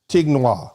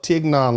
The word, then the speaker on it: Tignon: It's not Tignois.